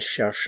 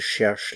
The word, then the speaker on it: cherchent: Ils cherchent le pain. Elle cherche le pain. They are looking for a pen. Ils cherchent un stylo. Elle cherche un stylo. Notice the pronunciation here. The NT is not pronounced.